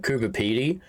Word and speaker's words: Coober Pedy: We call it Coober Pedy, which with one E doesn't even make sense when you read it.